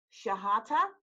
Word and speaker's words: Chehata: with you am I your last name is she hotter yes okay I wanted to make sure I pronounce that correctly I get a start for